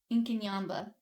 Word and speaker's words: Inkanyamba: which Inaba inin yamba I've been saying it wrong the entire time it's a weird one inin Yaba incin yamba managed to topple over